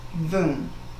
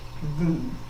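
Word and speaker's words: वं: The Sanskrit and symbol or our seed syllable is voom. It's spelled va m but it is pronounced voom.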